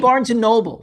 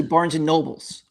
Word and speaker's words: Barnes & Noble: So, it's like Barnes & Noble. Some people say Barnes & Nobles, but I mean like Yeah.